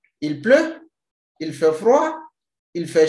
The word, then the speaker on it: pleut: Il pleut. It's raining. The tea is silent.